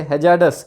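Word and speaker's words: hazardous: the field include pollution control, जो भी ये रेलेवेंट फील्ड मांग रहे हैं ना, इसमें पोल्यूशन कंट्रोल आ जाना चाहिए, हैजार्डस, इसमें आर साइलेंट होता है, हैजार्डस सब्सटेंस मैनेजमेंट, जो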